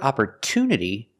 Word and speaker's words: opportunity: nature and natural but in the word opportunity the stress is after the T there's a stress after the T for this reason we cannot pronounce it CH we pronounce it with a clear T sound opport Unity the stress is after the tea